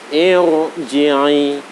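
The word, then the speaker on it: ارجعي: Irji'i, irhamna, itu membacanya harus irji'i, bibir agak maju, suara memenuhi rongga mulut.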